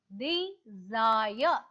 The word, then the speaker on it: desire: s i r e the correct pronunciation of the word is the zayah the desire to buy